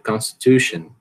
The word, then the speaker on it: constitution: Em inglês você não diz todas as sílabas com a mesma força, você vai dizer constitution. Você quase não escuta isso aqui, Você só tem um pouquinho de força na primeira e na terceira sílaba.